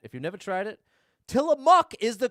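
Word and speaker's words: Tillamook: Tie a muk is the correct pronunciation.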